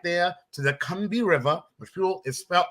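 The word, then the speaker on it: Combahee: history she led them right there to the kumbi river the fuel is felt it's pronounced cumbi it looks like it's pronounced cumbia which was pronounced cumbi she led them there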